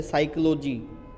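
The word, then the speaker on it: psychology: साइकोलॉजी। ठीक है? शुरुआत पी से होती है।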